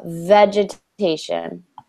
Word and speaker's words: vegetation: you repeat education good try and say the V pronunciation a little bit stronger instead of it sounds like you're saying more of a w the vegetation repeat Oh vegetation excellent